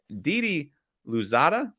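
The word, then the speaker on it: Didi Louzada: for josh hart thomas sedoranski nikhil alexander walker didi luzada that's how you say his name a future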